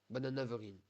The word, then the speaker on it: Bananeverine: Bananaverine. Voilà. Le E se prononce A.